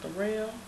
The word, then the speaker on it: Darrell: My name Darrell. It's spelled like Daryl, but it's pronounced Darrell.